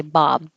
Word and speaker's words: bobbed: across the room bobbed I wouldn't usually have the good D like that I would usually say Bob we Bob for apples when this D is right next to another consonant you're not going to hear the D at all we Bob for apples